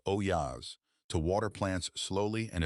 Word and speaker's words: olla: For more than 2,000 years, people have used ollas, pronounced oyas, to water plants slowly and efficiently.